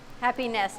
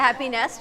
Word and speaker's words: Happy Nest: Happy Nest, N-E-S-T. That's pretty good. It's kind of, if you say it like Freddie says it, it sounds like happiness.